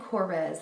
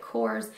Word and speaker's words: Korres: called the Kors and I've actually heard it pronounced Kors and corz however my absolute favorite makeup Guru artist on YouTube Jaclyn Hill Called It Kors not this in particular but called the brand Kors so that's good enough